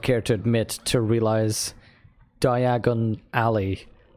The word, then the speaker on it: Diagon Alley: Like, because I saw the movies first, and they were always talking about Diagon Alley and pronouncing it like that. So I was like, oh, Diagon Alley. And then when I read it, I was like, diagonally.